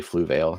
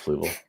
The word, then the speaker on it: Fluval: almost did it like remember when Grant used to say flu Veil instead of Fluval I do and I'll